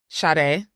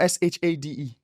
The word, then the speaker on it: Sade: SADE. It's not SHADE. Yeah.